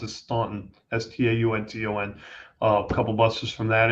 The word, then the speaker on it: Staunton: Benton, Stanton, or do I pronounce it Staunton? Staunton.